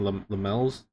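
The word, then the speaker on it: Lammens: And I think we're getting Lamels. That's how you pronounce his name.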